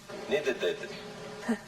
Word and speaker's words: needed: Needed. It's hard to say, isn't it? For the past tense of need, you must have another syllable. You say needed.